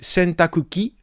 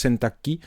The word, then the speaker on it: 洗濯機: Alors, Ningen, c'est l'humain, et Sentakuki, et souvent on prononce Sentakki, eh bien c'est la machine à laver.